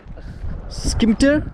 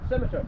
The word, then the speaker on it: Scimitar: Skimter? Scimitar. Yeah. Scimitar, yeah, that's how it's pronouncing.